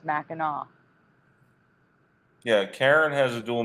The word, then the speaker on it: Mackinac: So, anonymous woman here says it's Mackinac because it's French. People who don't know it always say it wrong.